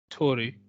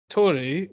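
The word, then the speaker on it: Torii: I remember reading in one of the books on Japanese mythology that if you've got 2 together, you just pronounce it as 1.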